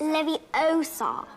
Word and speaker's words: Leviosa: someone's eye out besides you're saying it wrong it's leviosa foreign oh well